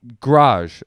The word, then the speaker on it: garage: do i say garage garage like g g apostrophe r r-a-j i like it kind of rhymes with taj what's todd's i don't